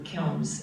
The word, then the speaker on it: Kilns: And they pronounce it. the house. No, she means Oh, The kiln. the kilns.